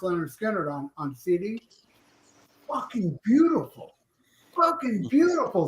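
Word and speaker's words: Lynyrd Skynyrd: It may be better on vinyl, but I got I was listening today pronounced Leonard Skinner on on CDs.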